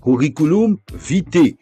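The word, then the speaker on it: curriculum vitae: En français courant, on prononce souvent curriculum vite.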